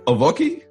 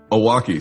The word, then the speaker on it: Owocki: And also Owocki. Close. That's the traditional Polish pronunciation. Owocki. Owocki.